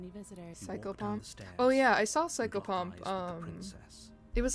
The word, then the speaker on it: psychopomp: she's so cold but psycho pomp is easy I know how to say psycho and I know how to say pom focus on the task